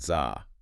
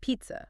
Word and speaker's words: pizza: So it's not za. No, it's pizza. Pizza. What's that sound at the end? That's the schwa.